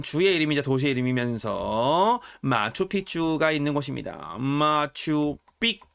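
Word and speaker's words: Machu Picchu: 페루의 한 주의 이름이자 도시의 이름이면서 마추픽추가 있는 곳입니다. 마추픽추. 네. 요즘 그 마추픽추를 마추피추라고 발음하시는 분들이 많이 계세요. 이렇게 잘못 표기하시는 분들이 계셔서 그런 거겠죠. 스페인어로 마추픽추입니다. 픽추. 예, 기억 받침이 있어요. 마추픽추.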